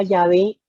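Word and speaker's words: Yahvé: esta palabra de jehová muchos eruditos creen que hoy en día que la pronunciación más cercana al nombre sería llave en este en lugar de jehová más sin embargo aún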